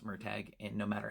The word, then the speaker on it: Murtagh: And also, I called him Murtaugh for years until I found out that Paolini said it's pronounced Murtagh, and no matter how many times I hear it, it still sounds weird to me.